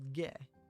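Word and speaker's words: げ: You pronounce this as ge.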